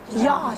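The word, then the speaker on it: Jahr: Jar. It's actually called Jar, because in Germans the J is not pronounced.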